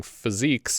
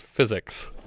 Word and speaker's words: physiques: Hollywood, for some reason mispronouncing physiques as physics.